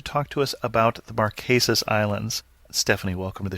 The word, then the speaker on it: Marquesas: remote part of the world where are the maresas and first of all am I saying it correctly yes you are saying the maresas correctly it is about I'm going to say